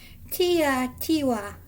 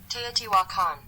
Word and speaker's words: Teotihuacan: Tiwa. What? Teotihuacan. I was way wrong. Teotihuacan. We'll do it one more time. Teotihuacan.